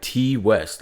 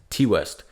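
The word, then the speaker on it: Ti West: about X directed by T West I believe that's how you say his name t type I don't know it's t-i-west t West so this film is about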